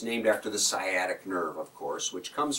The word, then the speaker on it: sciatic: talk about sciatic pain some people call it sky attic but it's sciatic pain it's spelled with